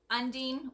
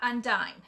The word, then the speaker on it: Undine: people don't actually know how to say Undine and that is how you say it Undine or Undine is not undying it's like marine okay so it's Undine it's